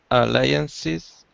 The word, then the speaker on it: alliance: smallet alliances alliances just just remember it's I like lion alliances like a lion lion okay the smallest uh alliances in terms of number